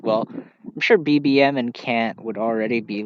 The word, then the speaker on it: Kant: And, it's pronounced Kant. Pronounced Kant, by the way, not Kant. Immanuel Kant. It's Kant because it sounds similar to Kent in that context.